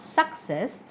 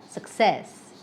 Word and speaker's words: success: Not success, but success.